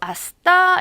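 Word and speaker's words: hasta: 아직도 여러분들 익숙하지 않죠 아스타 를 보고 하 스타라고 읽으신 분 있을까요 스페인어에 흐 소리를 내는 것 j 하고 지에 특수 케이스에서 이제 해시 발음만 이렇게 그 소리가 났었죠 아시 달 외고 아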